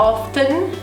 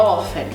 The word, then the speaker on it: often: comum a gente falar often então a gente acaba ignorando esse t e a pronúncia é often I often go to